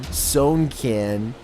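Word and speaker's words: Sewnkin: First, their name is spelt out letter by letter, S-E-W-N-K-I-N, Sonekin.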